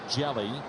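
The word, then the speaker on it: Hjelle: Pronounced Jelly.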